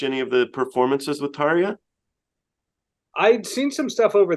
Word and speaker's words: Tarja: is her you spoke to that's neat it's tarya okay Taria yeah she was a pleasure to